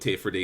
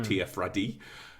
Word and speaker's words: Tirfradi: people that are settled, all call it Tier-Freddy, and it's spelled Teer and then Fradee, so Tier-Freddy, and that's what it says in the subtitle as well when they're talking Tier-Freddy. When you talk to one of the natives, they still say Tier-Freddy, but it's spelled Tirfradi. Ah, cool.